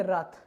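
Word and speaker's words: wrath: देखिए डब्लू, तो डब्लू यहाँ पर क्या है, साइलेंट रहेगा, तो हम लोग इसको क्या पढ़ेंगे, रथ।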